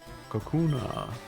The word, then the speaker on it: Kakuna: Kakuna. Funnily enough, with my videos that I'm making on roasting Pokemon designs, I have to look up how they're pronounced every single time. It's kakuna, like a cocoon, right?